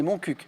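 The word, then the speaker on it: Montcuq: moncc en fait alors quand on demande au maire de de Moncul com on doit prononcer le le nom de sa ville c'est moncuc sauf qu'évidemment tout le monde trouve trouve plus drôle de dire Moncul quel village de l'actuelle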